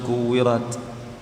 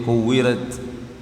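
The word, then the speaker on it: كُوِّرَتْ: At-Takwir misalkan, idza syamsu kuwirat, kemudian dibacanya agak mirip huruf E, kuwirat, ya, dan seterusnya, diulang-ulang satu ayat.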